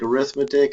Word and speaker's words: arithmetic: You do not get graded on your pronunciation in this class, but that word that looks like arithmetic is actually an adjective, pronounced arithmetic combinations of functions, as opposed